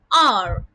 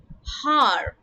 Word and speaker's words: hour: Now over here, though R is spelled with the letter H is silent in the pronunciation of the word, and we pronounce it as R instead of har.